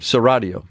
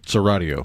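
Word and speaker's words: Chiaradio: Serio. Serio.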